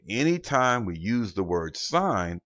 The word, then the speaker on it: sin: so the abbreviation for sign is s-i-n now mind you that's not pronounced sin it is still just an abbreviation for the word sign for cosine c o